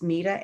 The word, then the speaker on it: Meta: It's Meta, M-E-T-A, but it's phonetically Meta.